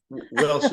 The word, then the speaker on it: Wielsch: us welcome Mr Norm wilsh did I uh pronounce it correctly your last name yes wilsh is fine yeah wilsh okay thank you thank